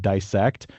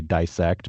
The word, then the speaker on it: dissect: and biologists to say dissect, but he's not in he's not happy with that pronunciation. He says he says dissect does not rhyme with bisect.